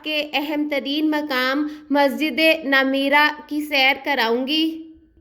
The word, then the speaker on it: نمرہ: اہم ترین مقام مسجد نمیرہ کی سیر کراؤں گی۔ کچھ لوگ اسے مسجد نمرہ کہہ کر پکارتے ہیں، جبکہ اس کا صحیح تلفظ نون کے زبر اور میم کے زیر کے ساتھ کیا جاتا ہے۔ نمیرہ ایک پہاڑی